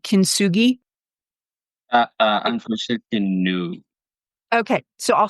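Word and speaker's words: kintsugi: you familiar with the Japanese um artwork called kin sui uh unfor okay so I'll spell it for you just so you and your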